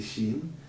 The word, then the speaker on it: Shin: Mão da direita, quando quando a pontinha está do lado direito, como é que você pronuncia ele? Você pronuncia ele Shin.